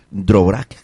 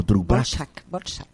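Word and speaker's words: Dvořák: Dvorak o Dvorak. Borchak, se pronuncia Borchak, gracias.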